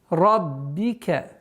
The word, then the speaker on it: رَبِّكَ: Удваиваем ба, применяем кесра. Ра здесь у нас твердый звук. Раббика.